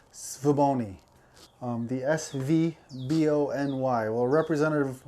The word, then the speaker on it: Svbony: some people online um i guess the general consensus is svaboni um the s-v-b-o-n-y well